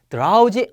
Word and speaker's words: drowsy: " 드로우지 "(" 남편 이 들어온다 " 와 발음 이 비슷함 ).